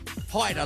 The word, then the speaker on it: Haider: Stevenson Gerard and Aris Haider is how you say it Haider like Ryder so she's out front